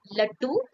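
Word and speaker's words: लड्डू: They They are pronounced somewhat very similar, but the difference lies that here is the consonant da, and here we are using consonant ta.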